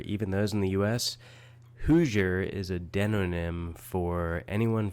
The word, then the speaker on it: Hoosier: International viewers or even those in the US hooer is a denym for anyone from Indiana and it's spelled h o o s i e r